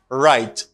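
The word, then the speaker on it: write: Right. It has the same pronunciation of this. Right. This W doesn't pronounce. W ça pas prononcer. Il y a même prononciation avec ça. C'est R là qui prononce.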